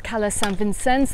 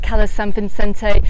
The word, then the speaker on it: Cala Sant Vicenç: Now you can see this resort marked on Google Maps as Cala San Vicenç, that's the Catalan pronunciation. I call it Cala San Vicente. You can pronounce it how you like because nobody is judging.